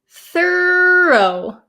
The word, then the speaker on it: thorough: first word here is thorough thorough okay so there's a little bit of an intonation difference too thorough thorough throw thorough throw very similar aren't they okay and I'm sorry